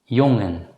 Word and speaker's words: jongen: When the letter combination NG is followed immediately by a vowel, it should normally still be pronounced as n. In such cases, the letter G should not be pronounced as G.